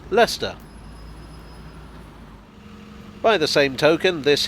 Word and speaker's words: Leicester: by newcomers to britain it's not lyster or lychester but leicester by the same token